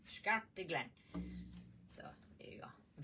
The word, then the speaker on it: Scartaglen: Uh Hopefully, we'll be getting our uh the Scartaglen. Yes, Scartaglen. It's uh How do you spell that now, so you get it right?